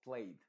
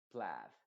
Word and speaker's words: plaid: Se debería pronunciar esto como played, pero no. En este caso se pronuncia con la A modificada que es A. Entonces se diría plaid.